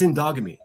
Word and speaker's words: endogamy: It's called endogamy. I'll spell it for you. E N D O G A M Y. It's indogamy.